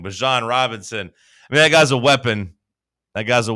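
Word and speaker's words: Bijan Robinson: Bjan Robinson or I guess he's changed his name. Bjan Robinson. He said, "Hey, everyone was saying my name wrong." Bjan Robinson.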